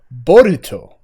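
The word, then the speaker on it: Boruto: in the last chapter it was bolt that was his name and like but if you say it in japanese it's borito okay that makes sense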